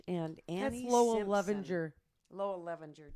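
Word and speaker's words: Levinger: Levenger. Lowell Levenger. Did I say it wrong? Yeah, I did. You're missing a letter in there.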